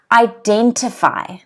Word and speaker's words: identify: blue okay in blue you'll notice that there's an apostrophe before the second syllable so we've got three syllables okay then sorry for identify identify okay but it's before the second so that means that the den is stressed identify identify okay can